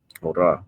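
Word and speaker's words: ὥρα: Okay, which in the Greek is pronounced hora.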